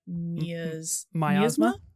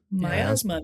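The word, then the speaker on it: Miasma: Um but I'm going to go with and I might pronounce the last word wrong but it's Teenage Sex and Death at Camp Mia's Myasma.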